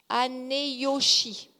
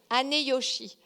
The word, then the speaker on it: Aneyoshi: le village de alors je vais peut-être mal prononcer parce que c'est du japonais mais c'est ané aneyoshi aneyoshi a n e y o s h I aneyoshi et dans ce village il y a